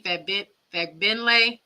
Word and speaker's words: Fagbenle: Timmy Fagbenle, a center from Indiana Fever. Kate Martin. Let me practice that. Say it again because I said it wrong for Bree Wayne. Say it Fagbenle.